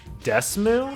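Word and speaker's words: DeSmuME: DS I use uh Desmoo I think is how it's pronounced, but it's D E S M U.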